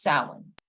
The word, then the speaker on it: Samhain: fire festival from which it gets its name pronounced salon believed by some to mean summer's end in